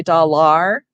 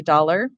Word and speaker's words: dollar: all e er r but if it's in the last syllable of a word it might say er like dollar we don't say da lar say dollar but when we're teaching